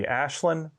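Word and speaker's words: Aislinn: is island houlihan now to be fair the irish pronunciation of the way her name is spelled would be ashlynn but that's not how she pronounces it it's island and we don't get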